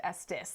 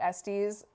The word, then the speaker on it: Estes: It is Vernon Glendas Estus' last name and it is pronounced Estis. This is like one of the first questions I asked, but they know that everyone pronounces it Estes.